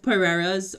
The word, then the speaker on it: Pereira: answer your question no both pereiras are are locally pronounced pereira um so there isn't